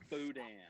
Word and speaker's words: Boudin: You pronounce it Boudin. That's right.